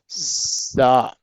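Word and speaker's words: ز: Pronounced from the tip of the tongue, touching the inner edge of the top two and bottom two front teeth.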